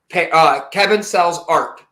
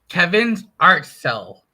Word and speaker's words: Kevin's Art Cell: Kevin sells art. I'm saying it wrong again, aren't I, Kev? Damn it. What is it, buddy? Kevin's art cell.